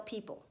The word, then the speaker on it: people: put it in there people is written as a three syllable word with the silent middle syllable crazy is that well people are kind of crazy so it works out people pee it actually has a silent Oh in there pee opal we have